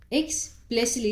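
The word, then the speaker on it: explicitly: दोहराना ठीक है एक्सप्लेसिली एक्सप्लेसिली इसमें टी साइलेंट है एक्सप्लेसिली स्पष्ट रूप से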